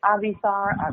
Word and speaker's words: Avisar: You can say it Avisar. I'm not picky. My name is usually in Hebrew, so, I'll take any American pronunciation for now.